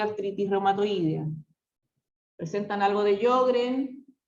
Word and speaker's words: Sjögren: Presentan algo de Sjögren y algo de esclerodermia.